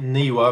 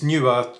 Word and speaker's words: Neewer: i found a brand called newer some people pronounce it newer because it's n double e w e r but apparently it's pronounced newer or whatever right so i found their latest